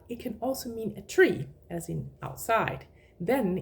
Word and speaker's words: tre: The pronunciation is exactly the same as the number 3, but when we put the tree, tre, together with other words, it becomes tra.